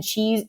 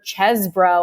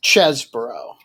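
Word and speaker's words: Chesebro: we've seen include uh Sydney Powell and Ken cheese or chesbro I should say now I know how to pronounce his name it's the cheese but it's chesbro chesbro the cheese chess bro has filed a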